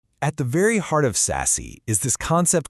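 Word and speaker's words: SASE: It's called sassy. It's pronounced sassy by the way.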